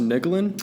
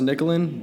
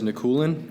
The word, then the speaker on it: Nikulin: Well, it's pronounced Nikulin. Spell your last name. Nikulin. Okay. And it's pronounced Nikulin, but everybody says Nikulin, and so I was just like, Kulin.